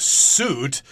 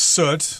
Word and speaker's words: soot: here is not pronounced suit it's pronounced soot like the word good or book it's got that uh sound so soot of course